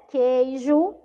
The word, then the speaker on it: queijo: Queijo. Também não pronunciei. E querida, eu também não pronunciei, tá?